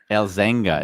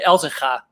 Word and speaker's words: Elzenga: Is that the right way to pronounce it? Absolutely not. And this is going to be a fun one because it's from experience I can say it's all but impossible for non-Dutchies to pronounce this one correctly. But I'll say it. It's actually Elzenga. Elzenga. Elzenga. Which is a Frisian name originally.